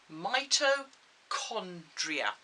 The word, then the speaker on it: mitochondria: a big word mitochondria i know it's got a ch in the middle but we don't pronounce that as ch we pronounce it as mitochondria okay and what that